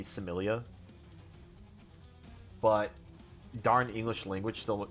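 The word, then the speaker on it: Psemilla: I'm not supposed to pronounce the P, I'm fairly certain. It's like just supposed to be Similia.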